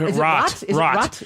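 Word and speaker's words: Roht: Is it Rot? It's Rot. R-O-H-T. That's a silent H.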